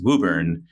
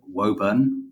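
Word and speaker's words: Worcester: Boston we're in uh well as we say here in Massachusetts wubber you might have a different pronunciation in the UK well strictly speaking we'd say wurn but I'm happy to say wubber because I'm here I think if anyone here said wurn they'd probably get kicked out of wubber Welcome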